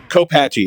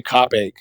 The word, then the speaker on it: Copache: on the ground roll copache is how it's supposed to be pronounced but we always say cach that song is a